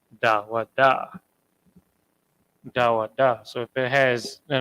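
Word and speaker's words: דוד: David himself whose name in the ancient Hebrew and I'm gonna write this in English just so you can kind of get how it's pronounced dawada so if it has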